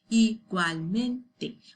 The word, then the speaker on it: igualmente: When you say igual, it's like two parts of the word, okay? Igual and then mente, okay? The tip of your tongue to pronounce L goes to the roof of your mouth, okay?